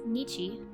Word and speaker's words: 日: The pronunciation of the first character is nichi, which notices yet again